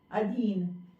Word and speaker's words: अधीन: तो अशुद्ध रूप में बोलते हैं आधीन, इसलिए आ लिखते हैं, जबकि शब्द है अधीन।